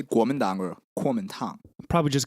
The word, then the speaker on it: Kuomintang: And if you were going to say what those letters stand for, how would you pronounce it? Kuomintang.